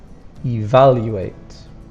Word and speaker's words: evaluate: evaluate uh the pronunciation the strong sound is here on the V evaluate improve improve to make